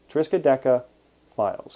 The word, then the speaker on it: Triskaidekafiles: e k a f i l e s triska deca files because the triska decaphile ph that is the